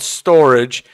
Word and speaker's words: STORJ: Channel today we're going to look at the storage project not pronounced storage but it's called storage and the way you can use your access